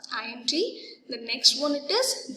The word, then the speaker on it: Allende: Okay, we have to pronounce as a Allende.